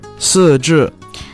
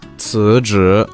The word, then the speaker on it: 辞职: Like, I know I've been pronouncing some Chinese words wrong, like 四肢。不是四翅、是辞职。辞职、对 thank you.